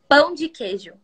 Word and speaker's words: Pão de queijo: Pão de queijo.